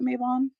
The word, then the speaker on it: Mabon: a little bit differently I call it maibon so um that's how I say it that's how I'm gonna